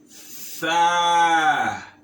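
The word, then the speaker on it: ث: Tha. So this letter is also pronounced as TH. TH in English language. The. So you should note it.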